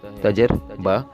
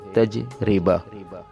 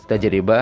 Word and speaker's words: تجربہ: تلفظ ہے وہ ہے تجربہ۔ رے کے اوپر زبر لگا کے جو پڑھا جاتا ہے وہ غلط تلفظ ہے، صحیح تلفظ اس کا تجربہ ہے، یعنی رے کے نیچے زیر استعمال کریں۔ عزیز دوستو، یقیناً اس